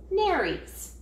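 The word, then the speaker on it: nares: prey that's lurking about the name that we give these two little holes is Nerys it's helpful to know but the word rhymes with fairies nurse sharks Huck whiskers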